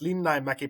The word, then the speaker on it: Linnainmäki: It's pronounced Linnainmäki, but there's only me, my mom, and my little sister.